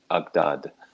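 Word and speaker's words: أجداد: to mention that interestingly the modern egyptian arabic plural for ancestor ancestors is pronounced agdad oh i love that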